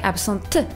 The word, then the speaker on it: absente: The correct way for a woman would be "je serai absente" with an E at the end, pronouncing the T. "Je serai absente."